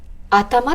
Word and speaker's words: 頭: 頭っていう字を頭って読んだり、頭